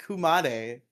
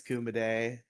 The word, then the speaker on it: Kumade: That's how I've heard it pronounced by like 90% of But it's it's Kuma like the word for bear and then day.